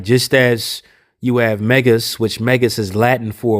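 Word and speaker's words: μέγας: this word here, the great in Greek is pronounced Megas, which is the same word for the fifth degree of the Church of Satan.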